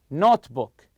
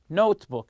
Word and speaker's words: notebook: their travels so the word here notebook notebook you stress the word note you packed everything except